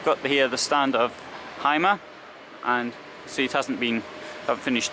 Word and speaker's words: Hymer: Bürstner is actually owned by the Hymer group anyway. Hymer group. In German, Y is pronounced as an U.